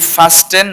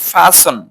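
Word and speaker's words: fasten: তারপরে হচ্ছে কি আমরা বলি ফাস্টেন, নট ফাস্টেন, হচ্ছে ফাসন, আটকানো।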